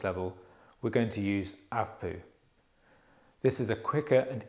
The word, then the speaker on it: ACVPU: and response to stimuli it is spelled a c v p u but pronounced avapu A is for alert